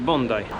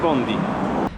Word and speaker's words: Bondi: plażę w Sydney czyli bonday Bonda jest to wymowa angielska ale równie dobrze można po polsku powiedzieć bondi jak spojrzycie na mapę